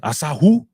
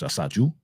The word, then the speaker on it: Asaju: Is that how you say it? Asahu? Or Asaju? It's not Spanish. Asaju?